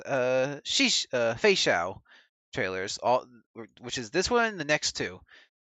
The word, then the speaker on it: Feixiao: Feixiao.